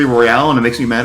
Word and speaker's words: Battle Royale: Except in wrestling, they pronounce it Battle Royal, and it's clearly Royale, and it makes me mad every time.